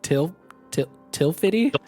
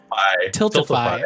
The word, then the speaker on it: Tiltify: And I was gonna go through because I can never pronounce the name of the fundraising organization. I think it's Tilfity? Tiltify.